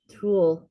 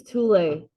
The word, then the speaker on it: tule: Moderate association between chest circumference and weight of male tool. It's not, it's Tule.